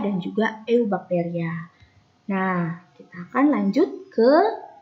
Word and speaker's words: eubacteria: dan juga ilmu bacteria tulisannya archaebacteria tapi dibacanya Arfi bacteria ini tulisannya eubacteria tapi dibacanya adalah you bakteria yo yo ini saya